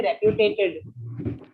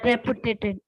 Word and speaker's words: reputed: And reputed, practice the pronunciation of this, Shweta. You tend to say reputed quite often. But it's reputed.